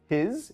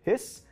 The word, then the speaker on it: His: bundle of His now it may look as though it should be pronounced his instead of hiss it's actually named after